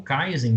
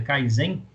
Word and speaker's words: Kaizen: ou falhas específicas e o Kaizen né ou Kaizen também dependendo da sua pronúncia mas o nome correto é Kaizen Kaizen é uma palavra